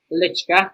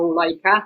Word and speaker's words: Lycka: just for the record it's pronounced lichka no leica no first beast in the space no liquorice no such thing but i presume crunia